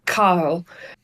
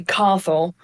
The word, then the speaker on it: Cathal: And then it depends where you're from how to say the second name. So it's a very Irish name. So the Irish way is Cathal. The British will call me Cathal, and the Americans will call me Cathal.